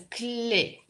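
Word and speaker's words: clef: Здесь «f» не читается. «Clé».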